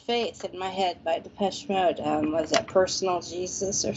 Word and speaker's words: Depeche Mode: Depeche Mode, and they all called it the Peachy Mood. And I'm like, you guys are idiots. But I mean, they were going to a Depeche Mode concert, and they're calling Depeche Mode the Peachy Mood, like they were pronouncing it correctly.